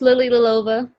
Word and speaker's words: Lilova: name how do you what's the proper way to say it it's uh i think it's just lily lilova lilly little aloha but there's a lot of l's there in a short